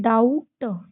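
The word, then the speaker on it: doubt: डाउट। डाउट। क्या पढ़ेंगे? डाउट। इसमें भी एम के साथ बी आया है। बी को साइलेंट करके हम डम पढ़ेंगे।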